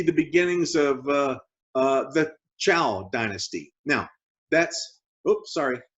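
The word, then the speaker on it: Zhou: and that is the chao dynasty now it's zh and to us it looks like uh zhu zhao but in chinese pronunciation it's kind of given a ch sound ciao the chal dynasty begins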